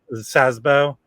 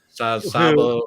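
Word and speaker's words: Szabó: And then also featured on here, I always pronounce his name wrong, but Gabar Sazbo. Sabo, yeah.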